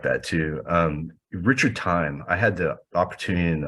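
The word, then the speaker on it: Thieme: in the UK um his name is Richard time and it's spelled t-h-i-e-m-e and he he writes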